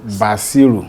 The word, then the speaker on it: Basiru: I've heard different pronunciations. I'm from Osun State, Osogbo, Basiru.